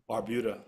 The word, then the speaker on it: Barbuda: of culture from Antiga and Barb and Barbo if I'm pronouncing that right Barbuda Barbuda I was thinking Barbados Barbuda that's some that's a